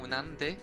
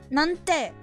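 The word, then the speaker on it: なんて: そんな恋なんで私 It's not exactly なんで. Be careful. なんて Yeah.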